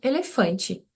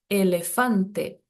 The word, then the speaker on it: elefante: Mesmo se ela tiver no final da palavra, a gente vai pronunciar com som de e, nunca de i. Então, em português eu falo elefante, mas em espanhol elefante.